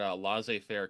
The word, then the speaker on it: laissez-faire: This is part of the reason why I can't support the notion of is it pronounced laissez-faire? That's the way you pronounce it. Yeah, I can't support laissez-faire capitalism because like the